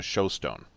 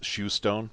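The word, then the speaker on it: shewstone: When I wrote that, what I realized the engine oil was to me, I took it as being a showstone, or maybe it's shoestone because it's spelled S-H-E-W.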